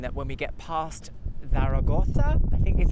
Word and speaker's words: Zaragoza: We've still got another 5 hours to go, which is hopefully going to mean that when we get past Zaragoza, I think is how you say it, Zaragoza, that the weather starts to change to be a lot more cooler.